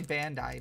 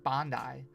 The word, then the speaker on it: Bandai: I did some work for uh I say Bandai, but I think it's properly pronounced Bondi.